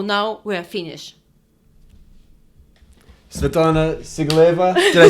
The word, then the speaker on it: Sigalaeva: Svetlana Sigalaeva. Did I say it right? Svetlana Sigalaeva? Like a Sigalaeva.